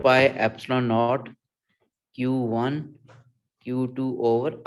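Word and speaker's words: epsilon: Data page पे given होती है, 4 पाई एप्सिलॉन नॉट q1 q2 over r square.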